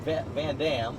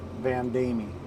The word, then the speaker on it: Van Damme: he tells me uh most people pronounce your name van damme but it's it's belgium you said and how do you pronounce it vandami all right so thank